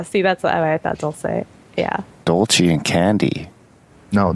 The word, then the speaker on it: Dulce: Dulce. Is that it? I've heard it like three different. That's Canadian accent. Okay. That's how does Mexico go? Dulce, like in candy. Yeah, see, that's what I thought. Dulce, yeah.